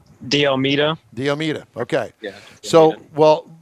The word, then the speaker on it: D'Almeida: How do you pronounce his last name? D'Almeida.